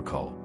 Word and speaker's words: 口: Is a pictographic representation of a mouth and is associated with the sound Coke. In the context of thirst, many Americans often reach for a Coke. In Taiwan, ko is even used in the name of the Coca-Cola brand.